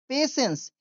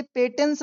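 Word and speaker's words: patience: that day, उस दिन, the students, students learned, learned यानी बच्चों ने सीखा या छात्रों ने सीखा, दैट पेशेंस, इसे पेटेंस नहीं पढ़ेंगे, पेशेंस इज समटाइम्स,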